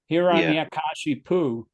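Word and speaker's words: Hiraṇyakaśipu: Hiranyakashipu, S with the slash above it is pronounced SH.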